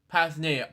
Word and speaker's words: Pasadena: the Netherlands to the United States, settled in Pasadena, California. A and his older brother, Alex. It's pronounced, Luke. It's pronounced Pasadena. Pasadena.